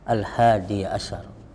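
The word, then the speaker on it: الحادي عشر: Di sini tan 11 ad-darsu al-hadiyah, ya, bacanya al-hadiyah asyar mabniun al-fathi, ad-darsul hadiyah asyar.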